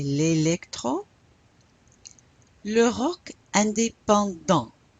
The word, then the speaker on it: indépendant: Le rock indépendant. You don't pronounce the T.